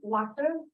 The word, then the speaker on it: Watir: And how to pronounce that one? Water? Water, Like normal. W-A-T-A, yeah, normal water.